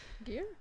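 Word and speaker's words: Gere: and richard jarrah jared i have no idea how to say his turn i'm sorry gear gear here literal gear yeah yeah there we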